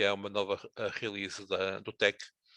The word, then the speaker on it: TeX: Um, e ele pronuncia-se tech, portanto é a forma como o autor acha que deve ser pronunciado.